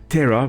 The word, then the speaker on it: ptera: The Lepido referring to scale, Terra with a silent P usually, that refers to wing.